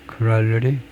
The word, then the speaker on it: corollary: 스펠링이 비슷한데 R이 싱글 R인가요? 더블 R인가요? corollary 싱글 R이 맞네요.